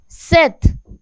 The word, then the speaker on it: sept: Sept. In this P is there but it is silent, so it is called sept.